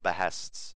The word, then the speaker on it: Behest: Guild Hests are the terribly renamed versions of Behests, or Behests, as they should actually be pronounced.